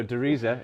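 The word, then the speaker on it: Der Riese: Dumuzi sorry i was i was corrected in germany that i've been pronouncing it wrong all these years yeah so de risa yeah yeah which is the giant in german yeah and it's it's basically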